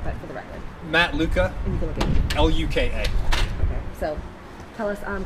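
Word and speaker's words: Luka: could you please tell us your name and spell it you know what but for the record Matt Luca l-u-k-a so tell us um kind of your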